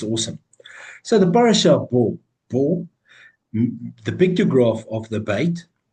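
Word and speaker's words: בוא: Bo is written with a bait and a vav in Hebrew, pronounced as Bo.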